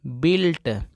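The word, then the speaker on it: built: का मतलब दोस्तों इमारत बी यू आई एल टी इसको पढ़ेंगे बिल्ट बिल्ट जैसा कि मैं आपको बताया अगर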